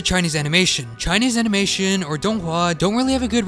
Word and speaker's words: donghua: It's pronounced DongHua.